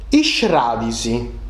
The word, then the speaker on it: is fradis: Accettotto isfradisi. Deu scriu isfradis. Ma sa pronuncia esti iscradisi.